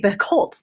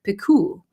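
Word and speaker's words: Picoult: on this on Instagram I have been saying her name wrong forever because I think of her as Jody bicoltz that's how I say it in my head but I think it's like piku is that right um all of her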